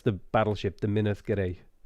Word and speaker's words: Minas Gerais: pronounce the battleship the minas gerais oh it's minas gerais and i suppose people from gualis would say minus get ice no the g in this case if the g is followed by an